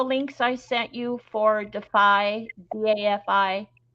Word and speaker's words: DAFI: Anne, did you get all the links I sent you for Defy, DAFI, pronounced Defy?